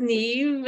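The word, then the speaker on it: Neeve: My name is pronounced Neve, N-E-E-V-E.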